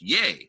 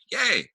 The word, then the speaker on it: Ye: by the way uh yay his name is pronounced yay like yay um thank you along